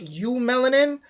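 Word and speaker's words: eumelanin: They say EU. I think it would be pronounced U melanin, which is the is made of carbon, hydrogen, and oxygen and nitrogen.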